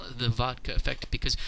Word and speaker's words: vodka: the vodka effect because when russians pronounce the word vodka in russian they say they say a very clear t in the middle of the word even though the word is written with a d just as it is